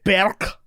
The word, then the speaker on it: Berk: It's pronounced Berk. Berk. They lose Berk.